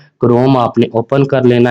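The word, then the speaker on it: Chrome: वो कौन सा, क्रोम है। इसको स्टूडेंट्स गूगल क्रोम भी कहते हैं, ये गूगल क्रोम नहीं है, ये गूगल क्रोम है, एच साइलेंट है, ठीक है।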